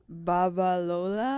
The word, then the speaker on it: Babalola: Let's have Rudy pronounce it. How do you say that, Rudy? Charles what? Babalola.